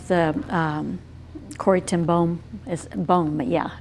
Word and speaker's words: Boom: You know, the reason I brought up the Corrie ten Boom is Boom, yeah, it's the way it's pronounced.